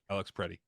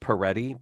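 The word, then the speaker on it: Pretti: Alex Preddy. Preddy. I had heard it pronounced Peretti, but I don't think that's correct. I think it would have an extra E.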